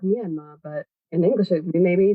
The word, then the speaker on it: Myanmar: English I don't know in burmes they say sort of like me andma but in English we